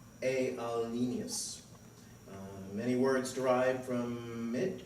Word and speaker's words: alienus: It derived from the Middle French, which derived from Latin, which was spelled alienus and was pronounced alienus.